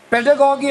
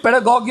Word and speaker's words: pedagogy: Has anybody of you gone through Paulo Freire's book, Pedagogy of the Oppressed? Anybody ever seen the book? Read it, pedagogy or pedagogy, this is just British and US pronunciations.